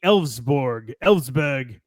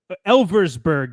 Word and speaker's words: Elversberg: And that team would be Elfsberg, which literally is spelled like Elversberg.